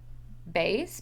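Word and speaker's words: Baies: love uh jasmine and i'm going to say it right base b-a-i-e-s i think is the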